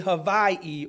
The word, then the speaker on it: Hawaii: now I've been to as the locals say Havi or Hawaii and it is beautiful